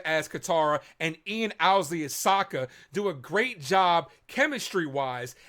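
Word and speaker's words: Sokka: series that's right I'm Saka it's pronounced with an AA young ladies I rocked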